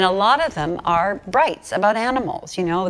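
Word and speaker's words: brites: and these things were called brights, B-R-I-T-E-S. It wasn't even, it was spelled like light, you know, brights.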